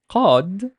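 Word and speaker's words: قد: While qad, like please listen carefully to how I'm pronouncing it. Qad is pronounced with the vowel of cod. You know the fish, the cod?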